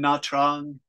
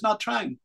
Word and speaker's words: Nha Trang: There it is in Nha Trang. It is. Yeah. Yes. Yes, you know this place. What's the name? Yes, Oliver. Teacher, my hometown is that place. Oh, Ken, your hometown is Nha Trang.